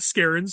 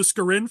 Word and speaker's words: Skarin: So it's Skarin, not Skarin.